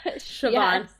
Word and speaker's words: Siobhan: And also, how many times did you guys have to Google and listen to how to pronounce her name? Because I did a lot. Siobhan just read over it. Siobhan.